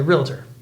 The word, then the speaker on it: realtor: saying it yeah because there's no eye between Ellen realtor really I think all